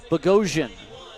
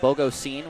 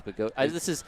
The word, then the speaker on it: Bogosian: Lynch, Barranca, Ashworth to face Adam Bogosian. And every time I see his name, I now think of, I want to say it like Bogosine, which is wrong because it's wrong.